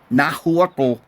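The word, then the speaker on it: Nahuatl: Indians is Nah is Nahu, which they spell it Nahut, but they don't pronounce the TL.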